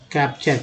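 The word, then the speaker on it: capture: Next है साथ ले जाना, कैप्चर, टी वाली को चर बोलते हैं।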